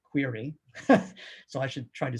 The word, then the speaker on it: QRI: Now, QRI, I think actually you're supposed to pronounce it query.